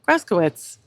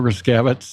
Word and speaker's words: Gryskiewicz: Joe Gryskiewicz, and I actually do know how to say his name, but most people don't.